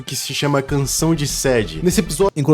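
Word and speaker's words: Sadie: que ela, nossa, eu acho estranho falar sed, a gente pronuncia sede, né?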